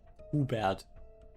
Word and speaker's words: Hubert: Hubert is Hubad. I I pronounce him to be pronounced the German way. His name is Hubad. It's not Hubert, it's Hubert.